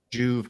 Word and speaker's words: Juve: to tear that up juve consulting is how you pronounce it consulting z he didn't